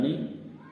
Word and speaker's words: knee: अगला शब्द आता है नी, जिसमें के साइलेंट है।